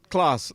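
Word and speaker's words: Klaus: Like but spelled like really, C-L-A-W. No. K-L-A-U-S. Like Krampus. Claws, like with a K like kilo.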